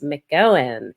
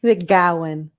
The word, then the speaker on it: McGowan: Did I mangle your last name? I asked how to pronounce it, and then I think I messed it up. McGowan. McGowan. I said it right the first time, and then I messed it up while we were recording.